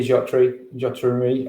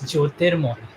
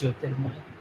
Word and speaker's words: Jyotirmoy: It's Jyotirmoy. Jyotirmoy. Thank you. It's a little tricky for you to pronounce, but it's Jyotirmoy.